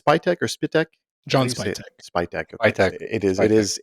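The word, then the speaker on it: Spytek: Spitech. Okay. It is it is it is spelled uh or or it is is pronounced how it's spelled exactly.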